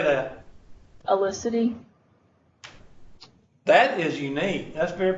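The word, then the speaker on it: Ellisity: Oh, how do you spell it? Yes. Okay. First name? E-L-L-I-S-I-T-Y. How do you say that? Elicity.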